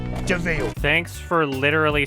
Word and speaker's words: de Vil: Cruella de Vil. It's spelled devil, but it's pronounced DeVille.